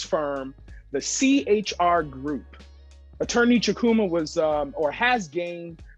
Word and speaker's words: Chukwuma: the attorney jeff caesar chukama ah man i messed that up how did i miss it i was so close and i had it right the w is silent go ahead one more